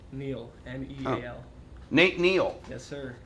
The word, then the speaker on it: Neal: These are Can I nice spell it wrong, too? sweatshirts Nate, too. well, how do I say your last name? Neil, N-E-A-L.